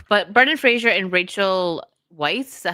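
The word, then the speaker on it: Weisz: I think I think it's We like Weiss. Yeah, that's the way I've always said it. Weiss.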